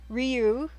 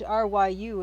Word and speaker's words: Ryu: It's a word, and it's R-Y-U, and it should be pronounced Ryu, but I've always pronounced it Ryu as well, because everyone pronounced it Ryu, and so I know that's wrong.